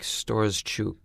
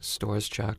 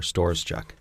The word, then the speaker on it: Storoschuk: I think the Ukrainian pronunciation is like Storoschuk or something. Storoschuk. Yeah, it's like... Okay. And how do you say it then? How do you say your last? Storoschuk. Storoschuk? Yeah. Like a store, Storoschuk.